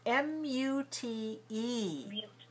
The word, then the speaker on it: mute: a mirror you're mute o m u t e u or u mute rhymes with cute got it but m-u-t